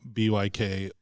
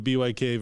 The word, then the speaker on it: BYK: that road about the BYK versus BIC and how it can even be more confusing than we realize? Oh, yeah, absolutely. Technically, it's neither. I think the German pronunciation is like book.